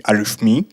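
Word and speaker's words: arithmoi: First of all, I learned how to pronounce the name of our package correctly. It appeared to be Arithme.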